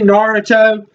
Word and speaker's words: Naruto: Okay, obviously, I've never seen Naruto. That's how you pronounce it.